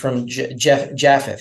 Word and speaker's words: Japheth: that are descended from Japheth. How do you say it in English? You'd say Yephet in Hebrew, but one of the three sons of Noah.